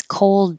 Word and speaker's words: cold: and if it's cold you have to hold the L position for a longer duration than you think you need to probably so that the L can be heard because if you can't hear the L number eight cold will sound like number seven code so you're going the